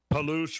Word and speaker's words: Palouse: Palouse rhymes with caboose. Perfect. Palouse. Palouse the caboose.